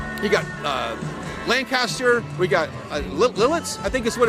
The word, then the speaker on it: Lititz: Now, we're in Lancaster County, which is just, you got Lancaster, we got Lititz, I think is what it's pronounced.